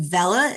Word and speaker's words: Vella: My name is Moren Vela. It's spelled Vas in Victor, E L L.